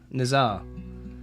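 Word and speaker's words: Назар: actually pronounced like Naz Nazar it's a Slavic name okay so the the H the h looking shape is more n okay thank you for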